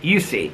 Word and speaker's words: Jussi: Um, Adrian said, "Okay, Jussi Adler Olsen pronounces his first name kind of like Jussi.